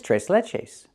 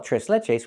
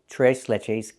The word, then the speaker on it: tres leches: What is t leches? It's a cake. And we don't call it trese leches. We call it t leches cake.